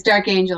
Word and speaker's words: D'Arcangelo: we going here okay how are we pronouncing dark is it dark angel on twitter or is it dark okay it's dark angel on twitter d-a-r-c-a-n-g-e-l-21 there